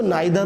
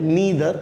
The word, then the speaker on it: neither: जब भी नीदर nor conjunction, इसको नाइदर नॉर भी कहते हैं, एक्सेप्टेबल है इंडिया में नाइदर नॉर, लेकिन इसका सही प्रोनाउंसिएशन जो है वो है नीदर नॉर।